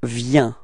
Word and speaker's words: viens: Okay, so you can notice that it's ending with S, but we don't pronounce it. So we actually only pronounce V. So the V and then the ya ya ya. Okay, so let's combine them and we get viens.